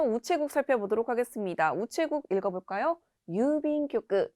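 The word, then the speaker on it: 郵便局: 유빈교크. 주의하실 점은 중간에 있는 장음 그리고 타금, 교크라고 발음되는 점 주의하시면 되겠습니다.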